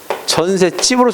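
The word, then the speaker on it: 전셋집: 전세 집으로 소리 난다고.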